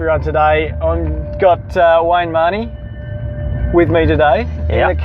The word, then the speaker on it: Mahony: I've got Wayne Mahony with me today in the car. Now, is it Mahony or Mahony? Well, it's Irish, but it's actually Mahony. It is Mahony.